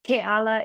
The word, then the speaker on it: Kalala: little tongue twister but kalala is how you pronounce it uh and obviously by